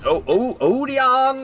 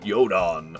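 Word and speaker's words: Oedon: I always try to pronounce it differently than Odin. Cuz you say you say it like Odin, people are going to think you're talking about like the Norse god Odin.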